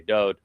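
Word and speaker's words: דוד: And therefore it is Dode.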